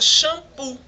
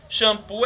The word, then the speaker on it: xampu: pirex certo temos também a palavra xampu xampu é escrito com x e tem um som de ch no chão certo e também temos